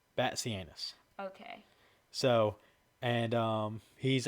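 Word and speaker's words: Batzianis: his name it is it is spelled b a t z i a n i s but it is Banus bat anus Banus okay so and um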